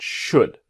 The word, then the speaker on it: should: think I should do now remember should the L is Silent not should but should what do you think